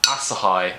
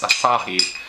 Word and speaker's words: Asahi: a bottle of beer asahi as i now know it's called i've been pronouncing it asahi all this time being a complete idiot but it's asahi so yeah crack open